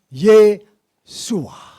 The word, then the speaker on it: Yeshua: Tetapi bacanya tetap Yeshua.